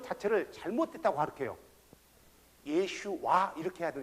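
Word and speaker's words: ישוע: 것 자체를 잘못됐다고 할게요 예 슈와 이렇게 해도 힙 우리말로는 예 슈와 이렇게 발음이 되요 예수님이 영어로는 원래는 영어로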